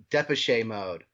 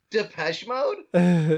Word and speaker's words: Depeche Mode: oh like uh uh deposit mode and i'm like what definitely mode i'm like wait a second that's just crazy he's like deposit mode i'm like depeche mode he's like is that